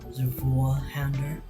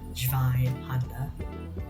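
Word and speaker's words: Zweihänder: None of you YouTubers should be pronouncing it Zweihander. It's not French, it's German. Zweihander, German. So I'm going to be showcasing two weapons, the Zweihander and the Red Nose.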